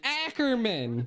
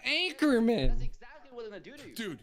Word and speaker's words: Ackerman: so come on Dave it's Ackerman not Anchorman with all the things